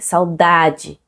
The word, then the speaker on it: saudade: C'est saudade, dade. Il n'a pas un accent, la plus forte, c'est l'avant-dernière syllabe.